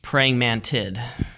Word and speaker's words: praying mantid: talking about praying mantis what's how do you pronounce the plural form of praying mantis praying mantid praying mantid I heard you say there's a